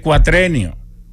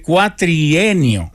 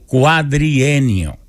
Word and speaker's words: cuatrienio: que no se dice cuatrenio no se dice cuatrenio se dice cuatrienio con una y cuatrienio o cuadrienio también puedes ir cuadrienio o cuatrienio pero nunca cuatrenio en este cuatrenio no en este cuatrienio